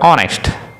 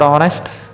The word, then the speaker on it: honest: Here, let's take the word honest. The word honest, H is silent here.